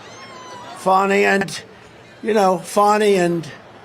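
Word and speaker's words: Fani: cases like funny fny it's spelled Fanny it spelled Fanny like your ass right Fanny but when she became da she decided to add a little French a little fancy fny fonny and you know fonny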